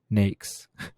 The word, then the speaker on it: NAICS: american industry classification system nakes pronounced nakes was developed as the